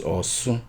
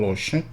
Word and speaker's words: Osun: That's the right name. Why it should be the right name or right pronunciation is because they moved from the area, the original place at where they call Oshun today, during when Caesar and